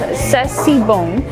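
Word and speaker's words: c'est si bon: Okay, I looked it up with Emil, and it's pronounced Sessibon.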